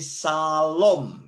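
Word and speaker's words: שלום: di akhir disebut Soviet jadi disini dibaca SH jadi Shalom ya kalau Anda Anda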